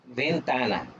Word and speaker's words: ventana: দেখছিলাম যে এই ভেন্তানা, ভেন্তানার উচ্চারণটা কিভাবে হয়, ভে, ভি দিয়ে হ্যাঁ। হয়, ভেটাকে কি বলে, ভে বলে, ভেন্তানা। এখন যদি বলি যে ওপেন দ্য উইন্ডোজ, তাহলে কি বলবেন?